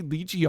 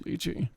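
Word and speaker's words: lychee: H I think I would say I don't say lii often. I think I just do liy, right? Cuz Jackie and Remy always say ly, but that's like the British pronunciation for it.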